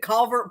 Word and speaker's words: culvert: It sounded like fancy, like we were aristocrats or something, I always tell people it's like the culvert that goes under your driveway. The big culvert pipe.